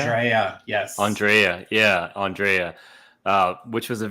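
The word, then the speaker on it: AndrAIa: No, I was gonna say season 2 is also when they introduced how do you pronounce her name again? Mouse? Andrea. Andrea, yes.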